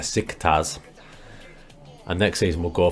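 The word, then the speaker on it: Beşiktaş: it but dick stars came to pronounce it their sick tas and next season we'll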